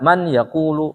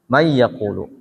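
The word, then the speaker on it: من يقول: Maka di sini enggak boleh dibaca man yaqulu, salah. Harus may yaqulu.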